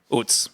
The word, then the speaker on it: oots: So I'd like to formalize UTS, Oots. Woods. which is spelled O-O-T-S-E or O-O-T-S or O-O-T-Z.